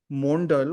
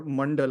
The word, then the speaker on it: Mandal: But anyways, for who the plot of the film is that Bharti Mondal or Mandal, I think there's 2 ways in which it's pronounced.